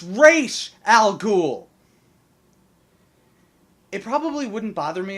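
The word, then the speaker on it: Ra's al Ghul: our time but no you are not pronouncing it correctly it's re Al gou it probably wouldn't bother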